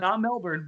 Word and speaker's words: Melbourne: on Blazers edge is from Australia he's from Melbourne and he came and visited around Christmastime Melbourne Melbourne I thought I said Melbourne that's a